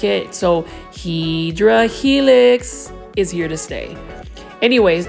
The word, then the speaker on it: Hedera helix: Or the correct way to say it is Hedera Helix, which is the scientific form to say English ivy.